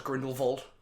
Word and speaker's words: Grindelwald: Gellert's Grindelwald. Is that it? Yes, that's exactly how his name is pronounced.